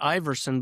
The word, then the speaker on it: Iwersen: We pronounce it Iverson, but we use a W to mess everybody up.